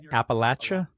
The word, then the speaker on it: Appalachia: good right so so what is the proper pronunciation here it's Appalachia Appalachia appal and uh yeah I look at